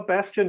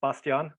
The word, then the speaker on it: Bastian: Well, Bastian, yeah, it's the English pronunciation. In German, it's Bastian.